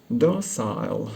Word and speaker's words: docile: and docile and sweet docile rhymes with fossil American which makes it sound